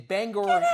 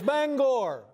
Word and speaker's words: Bangor: There's a certain sensitivity about how you pronounce the name of this city. Yeah, it's Bangor. All right. Bangor. And for the longest time, I thought it was Bangor.